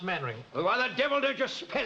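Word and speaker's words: Mainwaring: Actually, it's pronounced Mannering.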